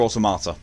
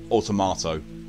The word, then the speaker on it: Automata: It's Nier Automata. It's just, you know, I mispronounced it and went Automato.